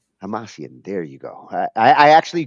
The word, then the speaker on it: Hamasyan: And Tigran Hamasyan, I, Tigran Hamasyan, Hamasyan? Hamasyan. There you go. I actually Googled it to see like how do you pronounce it, but you got to say it a couple times.